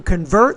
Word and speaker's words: convert: you have convert so the second syllable needs to be clearer longer louder and higher pitched and you want to